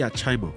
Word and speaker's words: Archymo: it's actually Archymo. Archymo. But you can't help how people pronounce words. Yeah. So I like how they call me Archymo.